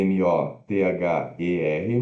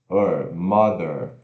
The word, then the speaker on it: mother: o ae uai uai mother significa mãe escreve m o t h e r motor né mas se pronunciar após 24 sílaba tônica m ou relaxado th roseado isso é mother mother tem que tamanho e temos significa mamãe